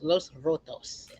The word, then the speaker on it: Los Rotos: Man, and so you're the host of the podcast Los Rotos. Am I pronouncing it right?